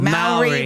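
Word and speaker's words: Māori: Maori rhymes with dowry.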